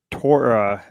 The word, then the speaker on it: Toron: Bryce Brian Toron, right? I didn't want to ask. Nice guy, by the way. He was like, "It does rhyme with moron."